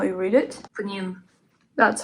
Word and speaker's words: Pnin: Pning. That's how it's supposed to be pronounced.